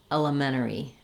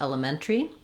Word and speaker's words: elementary: use this longer pronunciation, you'll notice that Americans drop that T and they say it more like elementary, elementary. And so I would suggest if you're going to use the 5-syllable version, drop the T. If you want the T there, stick with elementary.